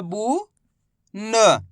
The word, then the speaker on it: बुन: तो बा का उच्चारण कैसे करेंगे, बा में छोटू की मात्रा बू न, तो मिलके बन जाएगा बुन।